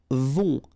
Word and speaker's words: vont: Then, ils vont. Final T not pronounced.